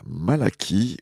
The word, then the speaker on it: Malachie: Et aujourd'hui, on attaque, entre guillemets, le livre du prophète Malachie ou Malachi. À vous de prononcer comme vous le souhaitez.